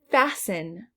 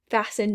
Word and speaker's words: fasten: has a silent h fasten fasten means to tie or secure something we don't hear that t fasten bot i bought